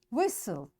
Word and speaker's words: whistle: listen fasten castle orphan whistle soften hasten bustle and gourmet in all these words letter t is silent so in this way